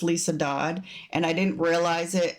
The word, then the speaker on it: Liese Dodd: It is pronounced Lisa Dodd.